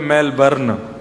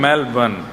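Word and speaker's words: Melbourne: हमारे एक भैया बोले मेलबर्न जो मैल को जला दे मेलबर्न मैंने कहा नहीं मेलबर्न र जो है वो साइलेंट बोलो तो लेकिन हुआ क्या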